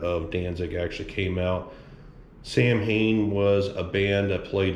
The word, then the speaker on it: Samhain: So the Samhain, or if you want to pronounce it the right way, it's Samhain, as well as the Danzig patch.